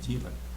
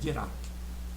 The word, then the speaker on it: Dirac: Ele era francês, o Dirac, e a pronúncia americana às vezes é Dirac, mas o nome correto é Dirac.